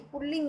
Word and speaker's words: पुल्लिंग: देखो, पुल्लिंग बोलने में तो र जैसा सुनाई देता है, पर हमें लिखने में र नहीं लिखना है। उच्चारण में ऐसा महसूस होता है कि पुल्लिंग शब्द है, लेकिन नहीं, पुल्लिंग होता है ये।